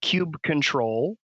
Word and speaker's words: kubectl: The command line tool is KUBECTL, right? Okay. So cube control is sort of the longest form.